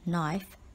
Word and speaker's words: knife: with a knife remember the word knife starts with the silent K word number seven is